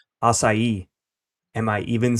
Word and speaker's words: Açaí: Açaí.